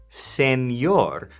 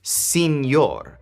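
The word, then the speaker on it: señor: Make sure to pronounce this as senor, not senor, unless you want to really sound like a gringo. Maybe think of the word sand when you pronounce this sor and then you'll get it right.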